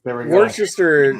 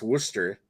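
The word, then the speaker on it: Worcester: about to say it and I'm like right Worchester Worchester is pronounced Worster so werer sauce no it's sorry Greg I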